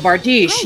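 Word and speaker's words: bardiche: me go ahead and do that and it's pronounced art Beach Oh bar dish yes that's the type of weapon - it's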